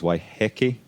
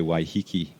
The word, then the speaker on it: Waiheke: it's of course I'm already word the Maori pronunciation is waiheke wow nine times out of ten you'll hear people say why hiki and so which is what I said it's